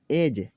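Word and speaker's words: edge: बजट में देखें G से पहले D का लफ्ज़ आया, G से पहले D का लफ्ज़ और D क्या हुआ? साइलेंट हुआ। एज किनारा, गरज बैर दुश्मनी, ब्रिज पुल।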